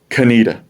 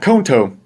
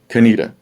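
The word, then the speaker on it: Conetoe: you're from the area you can't pronounce it kenita not konto konita yeah we would joke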